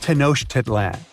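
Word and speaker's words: Tenochtitlan: It's Tosh Titlan. And Mayan cities are hard to pronounce too.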